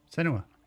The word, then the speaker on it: Senua: Let me tell you about Senua. Senua. That's how you say it.